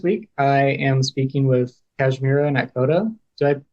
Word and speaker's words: Kashmira Nakhoda: Okay, so this week I am speaking with Kashmira Nakhoda. Did I pronounce that right as well?